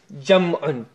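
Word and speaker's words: جمع: And plural is Jam'un. Some people say Jama'.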